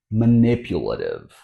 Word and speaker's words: manipulative: So first, we'll emphasize the syllable n. N. I also want you to notice that the T here, since it's between vowel sounds, won't be a regular T. It's actually a flap T or fast T, as in butter, water, pattern.